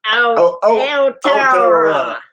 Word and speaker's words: Aotearoa: I convene Not Dead Yet, Aotearoa. Close to that. Aotearoa. Dang. It's a 6-syllable word.